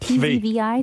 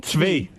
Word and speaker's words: Tzvi: T-Z-V-I? Tzvi.